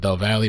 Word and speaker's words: Del Valle: It says a a former friend of the Del, you guys said Del Valley. That's how you pronounce it. Del Valley mother with missing child.